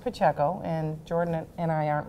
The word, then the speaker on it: Pacheco: but yes I that my name is pronounced PCO and Jordan and I